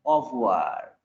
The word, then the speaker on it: au revoir: You notice I am not pronouncing R-E. Au revoir.